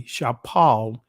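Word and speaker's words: שפל: Shafel, right? And the Israeli, Shapal, in the ancient Hebrew. That's the pronunciation of the word.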